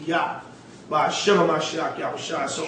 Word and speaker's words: Yah: We know it's written Jah, but there's no J in the Hebrew, so it's supposed to be Yah.